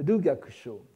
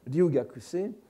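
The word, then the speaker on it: 留学生: Kukai, de son côté, était Ryugakusho, qu'on écrirait en japonais, qu'on prononcerait en japonais moderne Ryugakuse, c'est-à-dire un clerc devant séjourner.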